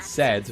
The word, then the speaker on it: Sed: Like, you know, Seth rhymes with death, and Sed rhymes with dead.